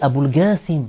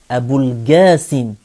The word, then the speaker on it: Abul Qasim: d'origine, il y a que la lettre Qaf peut être prononcée Gaf, avec le Ga, hein, le Ge, le son Ge, hein, Qaf et Gaf. Abul Qasim, Abul Qasim, c'est valable dans la langue arabe.